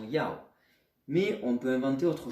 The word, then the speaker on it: 要: Et ensuite, ceci est un élément qui vous donne la prononciation Ya. Ya donne la prononciation Yao.